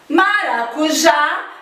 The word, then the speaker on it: maracujá: tónicas Vamos aos exemplos maracujá maracujá a última sílaba é o já e daí eu digo que ela é oxítona outros exemplos café Cipó